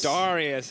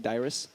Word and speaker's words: Darius: bruisers plank Mizer Darius Darius a classic yep I I was have to like stress that like pronunciation because people say think I'm saying dyrus ah yeah dyrus not